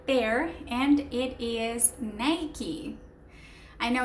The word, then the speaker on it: Nike: But remember, it's not Nike, it's Nike. Just like it is shown right there.